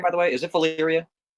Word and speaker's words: Valyria: But How do you no pronounce official title. Valyria, by the way? Is it Valyria? Valyria, yeah.